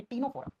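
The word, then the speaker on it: Ctenophora: जिस फाइलम का नाम है टीनोफोरा। टीनोफोरा phylum. लिखते हैं सी से प्रोनाउंस करते हैं तो टी से करते हैं बेटा।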